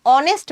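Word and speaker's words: honest: তার আগে এ বসার কথা কিন্তু এইচ যদি উচ্চারণ নাই হয় যেমন an hour এান অনেস্ট ম্যান হনেস্ট কিন্তু হচ্ছে না অনেস্ট তার মানে এইচ এর উচ্চারণ হচ্ছে না তখন কিন্তু আমার আবার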